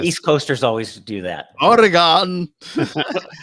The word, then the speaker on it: Oregon: Oregon. It's like a gun.